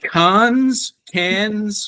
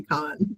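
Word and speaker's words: Cannes: jealous that I haven't, but is it cans? What is it? I've heard Americans say can. Cans? I think it is technically con, but Con? if you say con in America, then we think you're wrong. Wrong. We say Okay. can.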